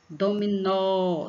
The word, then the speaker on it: dominó: Dominó, dominó. Então, você vai ver que o nó, você exige mais força na garganta para falar o nó. Então, nó é a sílaba tônica.